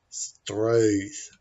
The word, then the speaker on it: Struth: Firstly, if you want to say STRUTH properly, it's actually quite tricky. The vowel is found in some parts of England and in Australia, but is not a standard English vowel. The vowel is possibly closer to a French vowel than an English vowel.